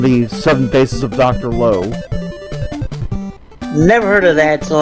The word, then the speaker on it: Lao: It's spelled Lao, L-A-O, but the guy pronounced it as Lo.